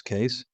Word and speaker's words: Keys: Keys here, pronounced as Case, and today I'm tackling a huge claim that's been floating around YouTube.